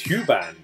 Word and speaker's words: Huband: Jonathan Husband says it's pronounced like it's Huband. Okay, cool. And is it band or is it bund? Like Huband or Huband? Like a band of people, like all called Hugh.